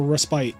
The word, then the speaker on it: respite: I think that you could pronounce it respit or respite. I think that they're both actually acceptable in the English language.